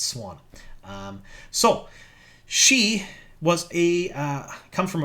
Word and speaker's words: Siuan: And somebody actually came at me for saying this wrong. Not Swan. That's how you pronounce her name. I do pronounce a lot of different things wrong. That one's right. Unfortunately, that's how you say it. A lot of people say Siuan or whatnot. It's Swan.